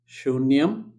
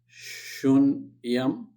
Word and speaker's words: Shunyam: Again, a long name is pronounced as Shunyam, Shunyam, okay, and Samyasamucca, Samyasamucca, okay, Mucca.